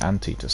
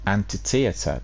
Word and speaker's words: anteater: we didn't get any anteaters so far but um anteater I kept pronouncing it anti-theater but actually it's ant eater I couldn't read it